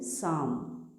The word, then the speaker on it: psalm: PSALM, साम, साम, पी नहीं पढ़ते।